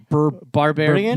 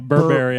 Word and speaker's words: Berberian: I watched Berberian Sound Studio, Yeah. which has Austin written all over it. What? Barbarian? No, Berberian.